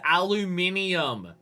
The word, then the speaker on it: aluminium: Scientifically, it's aluminium. Look on the fucking periodic table and look at how many other things end with IUM.